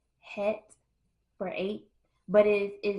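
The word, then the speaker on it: Cheth: and and it's pronounced het for eight but it it is spelled c h e t h and but it's pronounced as het and I thought that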